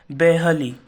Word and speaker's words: barely: So here the word barely, बेहली, उसका सही pronunciation है बेहली, मुश्किल से।